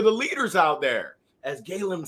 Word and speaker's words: Galem: So the correct pronunciation is Galem.